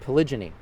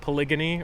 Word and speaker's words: polygyny: So what is polygamy, polyandry, and polygyny?